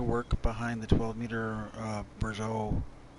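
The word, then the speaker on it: Bourgault: the 12 meter Brazeau like a burrow or gold I can't I have another pronunciation cultivator huh hmm no don't stop there now you should have no problems with a worker for the rest of this field in theory borge Oh possibly that's how clutch pronounces it and it is a Canadian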